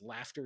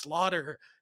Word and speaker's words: slaughter: You're like, there's no chance Slafter is a word. And you look at it and it's just like, oh my fucking god, Slafter, like mass murdering of people, and then it's like, oh fuck, it's pronounced slaughter.